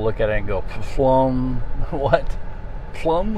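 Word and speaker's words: Pflumm: at it spelled p f l u m m I believe and people look at it and go flum what plum how do you say that pufflum now it's flum the p is silent and it's also I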